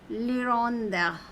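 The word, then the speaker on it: hirondelle: refer to Salos Lon H is silent Londa okay means the swellow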